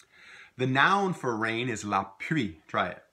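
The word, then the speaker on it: la pluie: noun for rain is Lappe try it la pre if you see it written they're gonna have an L in and we don't pronounce the L typically Louisiana French and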